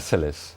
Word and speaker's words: cilice: And they also have to wear a cilice, is it pronounced? A cilice.